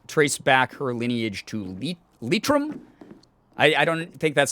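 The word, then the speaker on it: Leitrim: uh she can trace back her lineage to litrum i i don't think that's how you say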